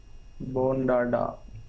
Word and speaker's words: Bondada: मैंने प्रोनाउंस सही किया सर? बोंडाडा, BONDADA। हाँ बोंडाडा इंजीनियरिंग, यस जी।